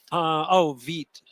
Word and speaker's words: Vite: Vite. Is that the new hotness? Yeah. All right. Yeah. How do I spell that? VITE. VITE. It's the French word for fast.